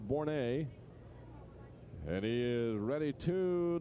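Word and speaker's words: Bourret: the right-hander Matt bour B R Annie pronounced bouret and he is ready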